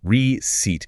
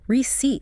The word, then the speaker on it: receipt: The emphasis is heavy on the second syllable. The first part is a soft re. The c sounds exactly like an s. And the ei combination stretches out into a long e sound. Receat. Short pause. Receat. It rhymes perfectly with seat. Like a chair you sit on.